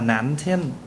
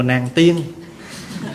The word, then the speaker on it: Nam Thiên: Hồi nãy mình đi vào chùa Nam Thiên á, chùa đó tên là chùa Nam Thiên, mà người tiếng Đài Loan người ta phát âm là Nạn Thiên, chứ không phải là chùa Nàng Tiên.